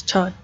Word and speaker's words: Tod: And he has his little fox Tad with him. Or is it Todd? Yeah, it's Todd. I keep getting his name wrong.